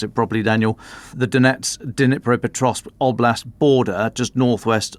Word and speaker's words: Donets: and thank you for reminding me how to pronounce it properly Daniel the Donets Dipropatross Oblast border just northwest of the village of Nuva Crraanka on the T0428 road.